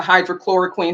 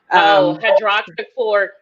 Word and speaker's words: hydroxychloroquine: me, well, what about the is it the hydrochloroquine? Help me if I mispronounce it. Hydroxychloroquine.